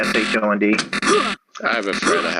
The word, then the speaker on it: Keeshond: Keeshond is how most people pronounce it. Keeshond.